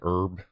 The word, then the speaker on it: herb: Yeah, it's Y'all just like there's It's funny how like we don't pronounce the H in herb like herbs and spices.